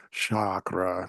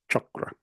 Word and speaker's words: chakra: your class and stuff it seems a little more Shakra you know and all but no it's chakra and even let's say